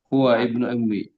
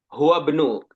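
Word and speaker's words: هُوَ ابْنُ: Hua ibnui. Hua bnu. Enaknya bacanya hua bnu. Ada hamzah wasol di situ.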